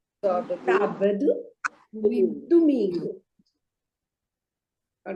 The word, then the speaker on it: sábado: So it is segunda-feira, terça-feira, quarta-feira, quinta-feira, sexta-feira, sábado. See, there is an accent there, so the stress goes on the first syllable. There are 3 syllables, sábado.